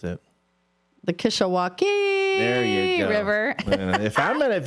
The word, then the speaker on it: Kishwaukee: You mispronounced it. The Kishwaukee there you go.